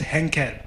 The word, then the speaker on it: Henkel: with this henkel minister i wanted to pronounce something else and then they kept on saying no it's hankel and then i was